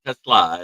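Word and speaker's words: TeSlaa: Say it right, guys. It's Isaac Tesla. It's a Slavic name.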